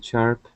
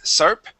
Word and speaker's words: sharp: the sh sound okay instead of SARP this is sh Shar sharp okay um sharp okay